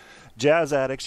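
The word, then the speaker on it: Jazz Addixx: Jazz Addicts, you can find them on Facebook. Look it up. It's Jazz, and then Addicts is spelled ADDIXX.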